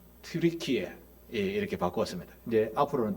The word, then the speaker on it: 튀르키예: 터키는 영어식 발음이라서 조금 경홀한 이야기입니다. 예. 터키라는 말은 미국에서 추수감사절에 잡아먹는 그게 뭐죠? 우리말로 칠면조. 그걸 터키라고 합니다. 그래서 이 터키아 정부에서 유엔에다가 우리나라 국호를 바꿔달라 해서 용감한 나라 트리키에 이렇게 바꿨습니다.